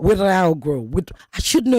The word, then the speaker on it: Ouedraogo: it's Lasanne Ouedraogo. Ouedraogo.